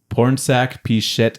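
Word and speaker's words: Pornsak Pichetshote: just a moment or P pich it is porn saac pichet sh yeah pichet nice that's handy yes thank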